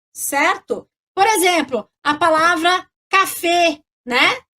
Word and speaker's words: café: Então, no acento agudo, no português, eu abro esse E, vai ficar E, né? Tá? E no francês vai fechar, vai ficar E, tá? Então, a palavra café em francês, café em português, né? Se escreve igualzinho em francês, mas a gente não fala café, a gente fala café, d'accord?